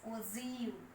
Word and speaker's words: ogive: We can pronounce it as OZIU.